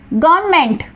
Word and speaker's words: government: Next गवर्नमेंट, now here silent letter is N, correct spelling क्या होगी GOVERNMENT, silent letter है N।